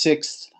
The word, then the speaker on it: sixth: So what we would typically have is we'd have the k, th, and s, sixth. But what I would first, I mean, it would be pronounced sixth.